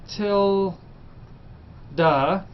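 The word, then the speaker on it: tilde: use this little symbol this is a Tilda that's pronounced till du and um in you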